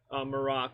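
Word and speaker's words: Marrok: Marak. Yeah. Marak, yeah. So Or Merrick, but something like that.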